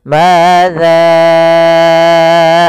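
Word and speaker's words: ماذا: Maka kita panjangkan za-nya, hati-hati juga jangan terbaca dengan zai, tapi tetap za, yaitu ujung lidah menempel dengan gigi sari atas. Madza arada, baru dibaca dengan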